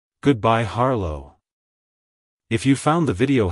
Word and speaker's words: Harlow: surname it's pronounced as harlo harlo harlo to pronounce it correctly emphasize the first syllable h r and pronounce the second syllable low with a soft